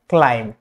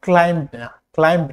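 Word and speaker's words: climb: এম অক্ষরের পরে অথবা টি এর আগে হলে, যেমন ক্লাইম, এটা কিন্তু ক্লাইম্ব না, এটা হচ্ছে ক্লাইম ক্লাইম ক্লাইম এম এর পরে কিন্তু।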